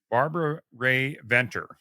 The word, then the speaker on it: Barbara Rae-Venter: But our special guest is Barbara Rae-Venter. And did I pronounce that right, Barbara?